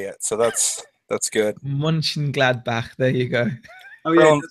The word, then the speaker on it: Mönchengladbach: He's trying to get us to pronounce Mönchengladbach. Oh, isn't that a German football team? It is Mönchengladbach. Yeah, is it Mönchengladbach?